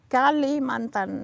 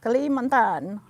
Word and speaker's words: Kalimantan: say 10 pasar and kalimantan is an island that is called in english borneo okay borneos so kalimantan not clementine cali mountain not and then okay so